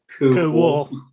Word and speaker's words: cool: Just to clarify that is another localism, really, because you don't say cool, you say cool wall. Yeah. It's a double syllable. It's like pewand and spooin.